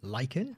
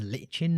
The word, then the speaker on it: lichen: I’m a big fan of the new lichen (which I always pronounced as lichen my whole life and now I’m a bit embarrassed I’ve been saying it wrong all this time...).